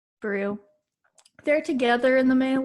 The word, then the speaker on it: Beru: owen and um uh beru is that her name is pronounced brew they're together in the